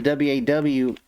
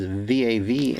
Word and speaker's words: Vav: he and then wall the waw actually is vav and some depend on how you pronounce it i guess and